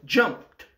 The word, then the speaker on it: jumped: Celui-ci se prononce jumped.